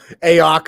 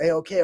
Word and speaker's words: AOK: First time I met him, I called him Ayok or some shit like that. And he like gave me this look like, fuck, another dude like can't say my name. But then I was like, oh, AOK. Okay, that makes sense. Way more sense than Ayok.